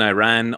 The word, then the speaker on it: Iran: By the way, I just want to say that it is actually pronounced Iran and not Iran. Iran and not Excuse me.